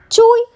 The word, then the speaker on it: chui: associated with the lungs Chui pronounced as like chewy with the forceful exhale which is associated with